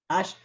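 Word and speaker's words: אשרי: If it's on the right side, it's Ashrei. Ashrei. Ashrei. Ash is one syllable.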